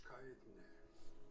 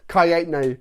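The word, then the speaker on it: Kaetenay: Kai-8, like the number 8 and nay. Kaitne.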